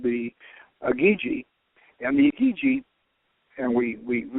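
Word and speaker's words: Igigi: Now they had a lesser group of gods called the Agigi, and the Agigi, and we figured out it's spelled IGI with two G's, and we checked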